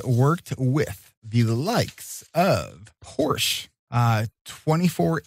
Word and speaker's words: Porsche: period correct he's worked with the likes of porsche uh 24 8 lemans i have no idea